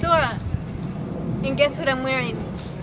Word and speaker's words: Zohra: Hi everyone, it's Zohra. And guess what I'm wearing? Orange and purple. Get it? Dora the Explorer! Well, people used to call me Dora or Dora the Explorer since it rhymes with Zohra.